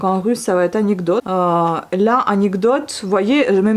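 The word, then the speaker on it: анекдот: Donc anecdote. L'accent il va sur le o, vous voyez, et non pas sur le e. Du coup, le e, des fois, on peut le prononcer en tant que i.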